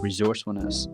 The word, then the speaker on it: resourcefulness: hard to explain because we should be saying it with like more of an S sound like resourcefulness but Americans don't say